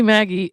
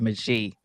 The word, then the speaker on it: Magie: So, Lizzie Maggie, I actually went and looked up how do you pronounce Magie, because I didn't want to pronounce it wrong, and it says Maggie, but I don't know if it's French, and the French version of it is Magie.